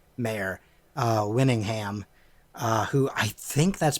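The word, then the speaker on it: Mare: Emily yeah I believe the original actors I think you say her name is mayor because it's spelled ma re I can't imagine it wouldn't be mayor Winningham who I think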